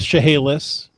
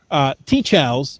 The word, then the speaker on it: TCHALS: so we've had the argument of how to pronounce these letters and uh really yeah and some people have come up with shahelis you know it's it's gone it's gone this far teach how's is what keats calls it so that's what